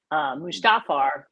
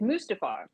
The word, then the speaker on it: Mustafar: mustafar i'm told because i've been wanting to pronounce it mustafar like something out of the lion king but i was told no it's mustafar and uh yeah it's